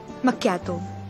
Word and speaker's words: macchiato: And it's difficult to pronounce. Ca-pu-si-no? Ma-ch-ya-to. Macchiato.